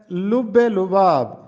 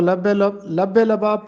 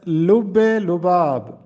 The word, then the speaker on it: لب لباب: جو کہ غلط ہے۔ درست تلفظ ہے لب لباب۔ ہم اس کو لب لباب پڑھتے ہیں، جو کہ غلط ہے۔ درست تلفظ ہے لب لباب۔ لب لباب کا مطلب